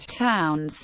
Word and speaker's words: Towns: make it clearer that the term was to be pronounced like the word towns rather them the potential